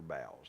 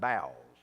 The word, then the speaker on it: boughs: top among the thick, is that bows or boughs? How do you pronounce that? Boughs. Okay, boughs. And his heart is lifted up in his height.